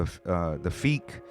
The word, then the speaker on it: Phiik: And you were like, yo, it's Phiik. You said it with such confidence. I swear I heard him pronounce it like that on the album, him or Lungs.